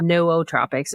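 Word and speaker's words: nootropics: And I've always been a big fan of Nutropics. No Tropics is how you pronounce it.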